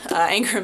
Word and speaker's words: Angra: And it sounds like anger with an A, but it's actually the name of a ancient Iranian god, Angra Manu, who's the god of darkness from Zor Zoroastrianism.